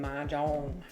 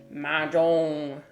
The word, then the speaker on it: mahjong: American ma jang. They call it they spell it this way like a really weird way. Majong, but the way that it's actually supposed to be pronounced is Majang.